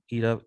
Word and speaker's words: eta: ईटा जो है, ये आपको याद होगा, मैंने आपको कहा था इसको आप ईटा ईटा ETA, ये इसकी प्रोनाउंसिएशन है जी।